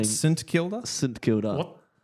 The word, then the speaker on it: St Kilda: Could you confirm if I say St. Kilder right? St Kilda. Am I saying that right? I I think so. Cuz Dylan pulled me up last week. He was saying S Kilda.